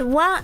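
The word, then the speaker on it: は: that wa is that the ha is only pronounced wa in sentences where it's called is. For example, kono kuma wa kawaii da yo ne. This bear is cute, right? Kono kuma wa, this bear is. But for example, in the word hayai, which is fast, it's not wa, because the meaning is not is.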